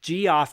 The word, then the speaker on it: Geoff: So Goff Murphy and I say Goff because it's spelled Geo FF and I'm like come on come on GF.